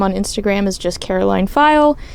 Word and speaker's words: Pfeil: My username on Instagram is just Karoline File. It's Karoline with a K. File is spelled Pfeil.